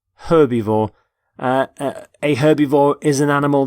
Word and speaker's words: herbivore: herb by the way you pronounce the h and the word herbivore for example this stomach